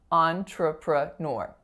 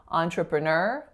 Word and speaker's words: entrepreneur: even more complex because the other variant is nor nor so the same n but then instead of just ER you can say or or so those are four syllables on tripura nur or entrepreneur again final syllable is stressed so it's either entrepreneur